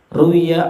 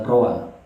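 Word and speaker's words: رُوِيَ: Ruwiya an Abi Hurairah, diriwayatkan dari Abi Hurairah. Kalimatnya ruwiya, bukan rawa. Ya, asalnya rawa kalau nggak ada titiknya. Tapi kalau ada titiknya bacanya ruwiya di majhul.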